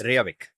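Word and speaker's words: Reykjavík: And पहले तो इसका कैपिटल सिटी प्रोनाउंस करना इतना हार्ड है, Reykjavik. Yeah, is that correct or is it something else? Reykjavik.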